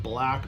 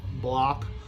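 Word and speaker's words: Blakk: Pete, I pronounce it Black, but I think it's more like Block.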